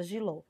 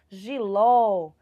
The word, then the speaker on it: jiló: qual aqui na palavra jiló vai ser ló certo que é onde tem o nosso acento agudo tá então essa vai ser a sílaba mais forte da palavra além dela vir com